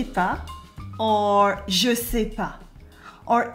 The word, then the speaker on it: pas: As you can see as well, the S at the end of pas is silent too.